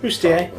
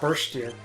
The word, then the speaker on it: bustier: Okay, so I'm equipping Realm and Go-Go with the Thunder Shields because the Minerva Bustier, is that how you pronounce it? Bustier, yeah. It's not Burstier.